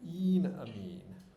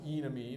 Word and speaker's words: enamine: there but the but the e in enamine is a long e you don't want to call it an enamine because either e it sounds like you're talking about an enemy or you're talking about a medical procedure um so enamine all